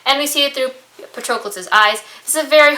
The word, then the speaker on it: Patroclus: It's not patronize. I know how to pronounce that.